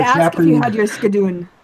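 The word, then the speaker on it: sgian-dubh: Yeah, I was going to ask if you had your skadoon. Is it skadoon? Is that how you say it? Ski and do.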